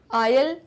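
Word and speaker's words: aisle: आयल इसलिए बोल रही हूँ क्योंकि जो एस है वो साइलेंट है।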